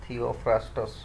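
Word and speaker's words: Theophrastus: so father of botany के रे थियोफ्रास्टस यार स्पेलिंग ता देखिबो टी एच ई ओ पी एच आर एस टी एस थियोफ्रास्टस एगुडा को मु ए जे वीडियो परे या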